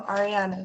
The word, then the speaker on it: Ariana: No, Ariana with A-R-I. Ariana? Yep, without the D. Oh, you don't pronounce the A?